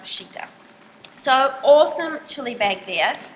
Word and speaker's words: Citta: It's from um the homeware store cheetah or I think it it looks like it should be pronounced sitta but it's actually pronounced cheetah.